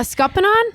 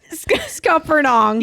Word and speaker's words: scuppernong: A scuppanon? Scuppernong? Scupperdong? Scuppernong with an N, right? Is that how you spell it? Yeah, again, things that I've learned and like they just roll off my tongue in a mumbly way. Scuppernong. Scuppernong. Yes.